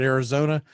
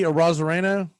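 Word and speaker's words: Arozarena: I'm sure you probably pronounce it Arizona, but Randy Arozareno, they've got him ranked 59th overall.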